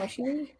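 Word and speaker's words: Camuncoli: Camunculi?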